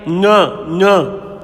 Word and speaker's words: ङ: नाक से थोड़ा सा गले की ओर दबाव देकर के नाक से बोलना है। ड़ नहीं होता है। क्या होता है ये? ङ। क, ख, ग, घ, ङ। इसको ङ उच्चारण होता है इसका, ठीक है ना।